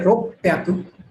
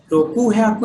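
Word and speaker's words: 六百: बचा क्या, 3, 6, 8 वाली लाइन, 3 में सान ब्याकू, 6 वाली में रोक प्याकू, रोकू हयाकू नहीं बोलेंगे, रोक प्याकू।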